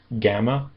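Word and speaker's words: γάμμα: And it is normally like a a g kind of sound like in gone gg- gamma. However, in some cases, it will sound more like an n as an angel. N angel n.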